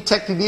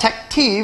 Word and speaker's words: TechT: great all right so let's talk about the tech T BT now I know it's pronounced Tech but I call it Tech te because when I get 600 emails I like